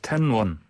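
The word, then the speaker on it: 天问: 테러 니로 가 지난 시모의 화상의 도착했다는 소식입니다 텐 원 움직일 우릴 발음으로 첫 문이 조차 들어 쳐 하늘의 문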